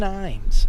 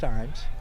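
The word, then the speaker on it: Ijames: And it's pronounced Ims. It's fun. throw over to first. He's back in time. It is I J A Mes I James, but it's pronounced IMS.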